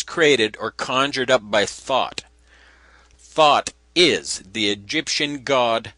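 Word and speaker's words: Thoth: light this was created or conjured up by thought thought is the egyptian god thought the creator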